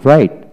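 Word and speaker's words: right: যেমন রাইট, আর আই, রাই, জিএইচটি, রাইট। এখানে উচ্চারণ হলো আর এ আইটি, রাইট, আর এ আইটি, রাইট। এখানে জিএইচ উচ্চারণ হলো না।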